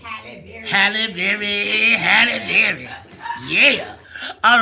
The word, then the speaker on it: Halle Berry: Halle Berry.